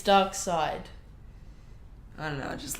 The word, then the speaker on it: Darkseid: then building up to dark seed like dark seed duck side Sai Sai ducks like an eel are you pronounced seitan is seceded but then you pronounce doc Sita's dockside its dark side I don't know I